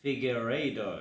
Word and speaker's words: Figueiredo: last loss, I don't even know if I want to try to pronounce his name. Go. It's so bad. It's Marab. It's Definitely. it's Davison Figueiredo.